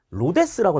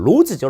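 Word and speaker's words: Rhodes: 자, 다음 로데스라고 나와요. 로데스가 아니라 로즈죠. 로즈. 거버넌스를 이야기한 로즈입니다.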